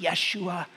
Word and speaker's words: Yeshua: call his name Jesus in their language it would have been pronounced Yeshua it meant the Lord